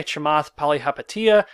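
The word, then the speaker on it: Chamath Palihapitiya: specs well these are owned by this guy chamath pali hapatia there i said it right it's hard to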